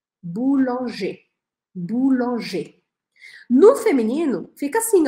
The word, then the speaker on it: boulanger: é a transformação, tanto na escrita quanto na pronúncia? Eu vou falar e você repete. Boulanger.